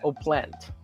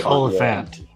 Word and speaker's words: Oliphant: Timothy I- Oplant. That's Timothy Oliphant. Like sounds like Yeah. elephant. It's like how the British say elephant.